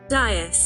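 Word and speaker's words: dais: that it is a dis dis I had to get the pronunciation out I was correct it's a dis I'm Australian we don't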